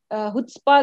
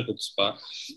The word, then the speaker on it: chutzpah: कैन be considered under हुट्स्पा। तो इसलिए मेरे लिए भी नया था, और मैंने भी जब सीखा तो मुझे भी बाद में समझ आया कि सी साइलेंट है इसका और इसकी प्रोनाउंसिएशन हुट्स्पा है, तो इसीलिए तो वरना